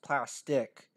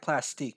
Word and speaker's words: Plastiq: It's actually pronounced Plastic with a Q. But I like Plastique because it reminds me of Mystique from X-Men, if you know what I'm talking about.